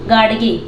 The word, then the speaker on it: Gadge: पे मॉडर्न, इसको मॉडर्न पढ़ते हैं, आर इसमें साइलेंट रहता है इसलिए जल्दी से पढ़ते हैं मॉडर्न। गाडगे, ठीक है, इसको पढ़ते हैं गाडगे महाराज, ठीक है।